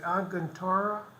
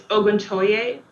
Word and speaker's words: Oguntoye: Okay, so you and Miss, is it Aguntora? It's Oguntoye.